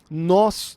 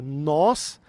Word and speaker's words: nós: levanta ela se levanta nós nos levantamos e toque olha a diferença nós é um som aberto é um o aberto então nós mais ou